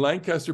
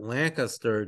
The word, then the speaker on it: Lancaster: is to remind you that Lancaster does not remind does not uh rhyme with disaster Lancaster not Lancaster as the natives um Lancaster Lancaster okay and um it was